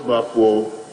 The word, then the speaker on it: Baffour: The name is Bafo. The Bafo is spelled B-A-F-F-O-U-R.